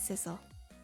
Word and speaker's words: Sissel: My name is Sissel. If we ever meet again, that's what you can call me. Sissel, huh? Got it. You know what, Sissel? It rhymes with missile.